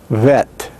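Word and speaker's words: ב: word next we have the hebrew letter vet vet vet is the second letter of the hebrew aleph bet written without a doggish it is pronounced as a be fricative now the way that we note be fricative is a b with a line through it that indicates that the letter is fricative any letter that you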